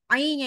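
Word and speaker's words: عين: kurang Iya kurang panjangurin Ain ini bacanya bukan Ain n yang panjang tapi ainya yang panjang Ain Jangan Nun nya dipanjangin tapi huruf ainnya coba y kan nanya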